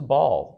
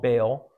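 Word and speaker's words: Baal: built a temple to ball or sometimes he's called bale probably the correct way to pronounce it as ball I will pronounce it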